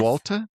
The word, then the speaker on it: Swalta: Yes, Swalta?